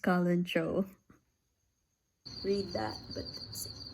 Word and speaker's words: Kalanchoe: So I just searched it and it's actually pronounced Kalanchoe.